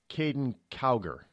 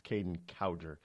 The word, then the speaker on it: Kaden Cowger: by the name of Kaden cower now i' had been mispronouncing his name for for years it's Kaden cowger he started out now